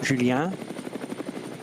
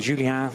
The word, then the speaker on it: Julien: But as he says, Julien, not Julien. Well, mind you, Julien would be with E-N when it's said in a French way. That tends to be how they pronounce like en route, Julien.